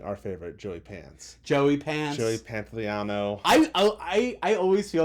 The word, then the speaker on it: Pantoliano: Joey Pantoliano. I always feel like I'm mispronouncing his name, even though I know I say it right.